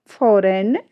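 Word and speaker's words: foreign: यहाँ पर जो हमारा रूल्स कहता है वो क्या कहता है, जब किसी शब्द में एन से ठीक पहले जी आता है तो जी हमारी जो वो है वो साइलेंट रहती है।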